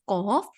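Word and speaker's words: ق: is the lighter pronunciation to pronounce the heavy sound of cough you have to lift the back of your tongue upwards and to pronounce the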